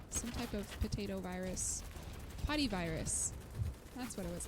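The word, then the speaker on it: potyvirus: Potty virus. That's what it was called. It's such a stupid sounding virus. It's literally POTY, virus. So it sounds like potty virus.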